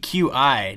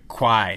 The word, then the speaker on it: Qi: And that's Qi, Q-I, not Qi or Qi. It's pronounced Qi.